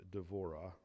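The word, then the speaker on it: דבורה: now Deborah and the in Hebrew it would be pronounced d'vorah a propheus the wife of laido was judging Israel at that time she used to sit under the palm tree of devorah between Rama and bethl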